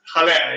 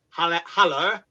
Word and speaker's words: Haller: The last Haller, yeah. Haller, sorry. Haller. I see. Be honest, how many West Ham fans call him Haller? And how many West Ham fans actually go Haller?